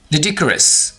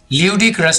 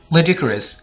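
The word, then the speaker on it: ludicrous: इस वर्ड को सही कैसे बोलना है गौर से सुन लीजिए। लिडिक्रस, लिडिक्रस, ल्यूडिक्रस नहीं बोलना, लिडिक्रस।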